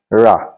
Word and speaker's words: rà: Buy, rà or ra. In sentence, it will be pronounced ra, but ordinarily, it will be pronounced ra.